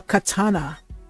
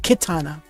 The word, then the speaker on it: katana: Alright, so we get our next piece of evidence, the katana. That's pronounced katana, not kitana. There's no I in katana.